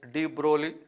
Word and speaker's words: de Broglie: Pronunciation is de Broglie.